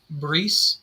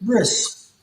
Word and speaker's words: bris: Bree. Bree is that how you say it? Bris. Bris is the Yiddish way of saying Bit.